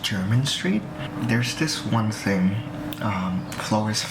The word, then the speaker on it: Jermyn Street: I went to Flores, London yesterday in Jermyn Street, and I don't know why, but like, it spells like Jeremy Street, but it's like it's pronounced German Street.